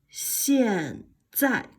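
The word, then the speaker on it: 现在: 现在 again harder. 现在 again. 现在 again. 现在。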